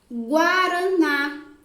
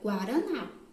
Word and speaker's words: Guaraná: Guaraná. Guá. Sai o som da letra G, sai o som da letra U e sai o som da letra A.